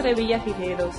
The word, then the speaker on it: Revillagigedo: Aquí saliendo viaje rumbo a las Islas Revillagigedo. Las Islas Revillagigedo, as the Socorro Islands are correctly pronounced in Spanish, are located about 220 miles south of Cabo San Lucas, Mexico.